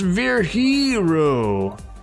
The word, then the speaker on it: Virgilio: It's pronounced Virhiro. Virgilio. No, I'm pretty sure it's Virgilio.